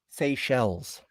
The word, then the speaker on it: Seychelles: speed of a pregnant Secalese tortoise? What? Okay, I gotta look that up. Secalese. Okay, it's a place. Secalese tortoise. Let's see how to pronounce this shit. It's just so crazy. Seychelles. Seychelles tortoise.